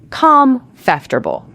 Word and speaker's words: comfortable: That is exactly what most learners say. 4 syllables. Com-fter-ble. But in natural everyday speech, native speakers actually say it with just 3 syllables. Com-fter-ble. Com-after-ble. That middle syllable just collapses.